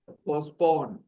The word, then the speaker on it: postpone: Postpone, right? You know the word. Postpone. Postpone, okay? T is silent.